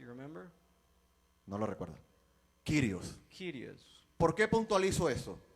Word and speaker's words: Kyrios: Se escribe kurios It writes curious, y se pronuncia. and it's pronounced. ¿Lo recuerda? Do you remember? No lo recuerda. Kyrios.